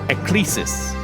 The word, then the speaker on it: Ecclesis: It is pronounced Ecclesis. Right, Ecclesis.